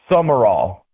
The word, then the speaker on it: Sumrall: How do you pronounce his last name? Is it Summerall or Summerall? I'm confused. Summerall.